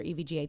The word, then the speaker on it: EVGA: that right evga okay each letter so it's pronounced as each letter evga thank you carlos you're